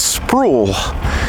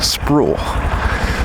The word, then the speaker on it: Sproul: It's Sproul. It's like spool, but with an R. Sproul.